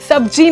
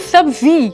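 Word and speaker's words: सब्ज़ी: सब्जी नहीं होता, दैट इज सब्जी। ज के नीचे भी नुक्ता आता है, तो सब्जी इज द करेक्ट प्रोनाउंसिएशन।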